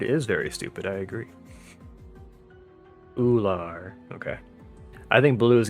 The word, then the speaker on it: Ullr: have dimitri saros and uhler how do you pronounce her name did she say my name is ula okay legendary cigarette is very stupid i agree ular okay i think blue